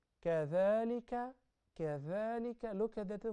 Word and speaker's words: كذلك: We have some letters where you must stick your tongue out when you pronounce them. Those letters are three. Zal, Tha, and Dha. Zal, to distinguish it from the Zai. So when you say, Kathalika, Kathalika, look at the